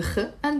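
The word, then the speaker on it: خ: So, if you know how to pronounce the kha, you're one step closer to pronouncing Arabic in the correct way.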